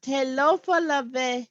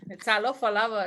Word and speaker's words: Talofa lava: Telofa lave, sis. Lava, is that lave? Lava. Oh, Talofa lava.